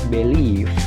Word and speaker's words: believe: Yang pertama dibaca believe. Nah, di situ dibaca b, lele, bb, believe. Ada tanda petik, nah itu stressing atau penekanan. Jadi penekanannya itu mengarah ke leave-nya ditekan ya.